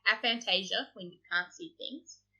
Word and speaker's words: aphantasia: Apparently it's called aphantasia when you can't see things. It's spelled with a PH and an That's F.